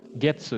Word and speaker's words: 月: いつか、 itu baca sih, gatsu nih. Ini getsu ya. Ini diambil Getsu. dari getsu yobi. Jadi kita bacanya getsu.